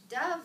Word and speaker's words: dove: bird called a dove dove rhymes with love nobody wrote about hamsters